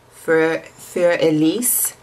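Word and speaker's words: Für Elise: then this last one for elise if you're gonna try to say it correctly it's german and it is um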